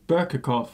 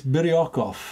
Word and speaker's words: Biryukov: No, that's Berkakov. It's Berkey not, boy. It's Biryukov.